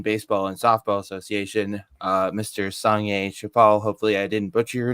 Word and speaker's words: Sangye Choiphel: It's pronounced, Seriously yeah, though, it's pronounced Sangye Choiphel, basically.